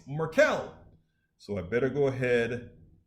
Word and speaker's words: Markel: like better you spelled you said my name wrong it's merkel so i better go